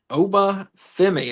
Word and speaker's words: Oba Femi: Rookie of the year, number 3, Oba Femi. Am I pronouncing that right?